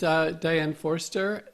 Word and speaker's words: Diane Forster: winning lottery I don't know so this is Dianne Forster am i pronouncing that right you're pronouncing it perfectly hi